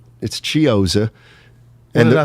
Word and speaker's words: Chiozza: I really thought I was pronouncing it right, but it's Chiozza.